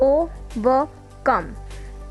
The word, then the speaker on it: overcome: We pronounce it like overcome. Two unstressed followed by one stressed.